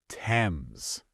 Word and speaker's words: Thames: Number 1, Thames. We already learned this one. It is not Thames, it is Thames. The H is silent. Thames. Got it.